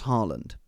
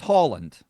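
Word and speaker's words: Haaland: night kept calling now how do you pronounce Harland well do you know his name's Holland okay but everyone said Harlan so he just kept it double A in Norwegian as an old oh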